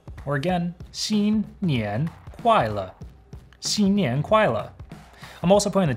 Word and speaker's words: 新年快乐: If you want to wish your friends Happy New Year's, just say 新年快乐. Or again, 新年快乐.